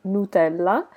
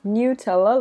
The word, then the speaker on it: Nutella: I am Italian, so I normally pronounce this Nutella. That is the Italian name. But I know that in English you pronounce this as Nutella.